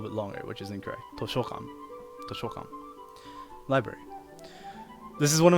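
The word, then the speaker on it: としょかん: I pronounced that incorrectly. I said toshokan, but it's not. It's toshokan. And what's the difference, you might say? I made the O sound here, the sho sound, the sho part, I made the sho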